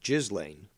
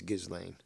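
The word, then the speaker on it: Ghislaine: that is her name i used to say jizz lane which is what i heard but that's apparently incorrect she's although she loves the jizz that's not the way you pronounce it it's gizlane stupid name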